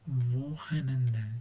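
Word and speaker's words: Wochenende: W falan bu kafanızı karıştırmasın. V olarak vohenenden şu C'ye de karıştırmasın. Burayı direkt H olarak yuvarlıyor ve önünden iyi hafta sonları demek için kullanılıyor.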